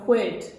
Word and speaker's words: quid: However, in England, we also use the term quid, rhyming with squid.